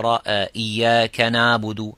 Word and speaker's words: إياك نعبد: So don't say Iyaka na' and pressing too much and giving so much time, or do not neglect it to go the opposite. So Iyaka na'budu, na'budu, so you don't pronounce it at all.